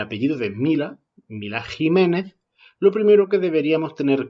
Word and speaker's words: Ximénez: se extiende pero entonces por qué pronunciamos la equis como jota y no como equis en estas palabras ahí